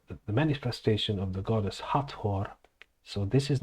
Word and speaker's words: Hathor: And furthermore, the manifestation of the goddess Hathor. So this is not Hathor, Hathor. You need to pronounce the H.